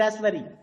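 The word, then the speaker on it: raspberry: इन the doubt and रसबेरी सर बी एंड रसबेरी में पी इन the word doubt there is अ बी इज a silent letter and इन द रसबेरी पी इज अ साइलें letter okay now द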